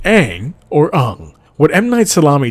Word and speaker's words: Aang: main character's name pronounced Aang or on what m9 salami did was take the pronunciation of the name and go back to the proper Asian pronunciation as how would actually